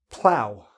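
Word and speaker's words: plough: out of a trough ow like ow that hurt ow plow plow like a farmer has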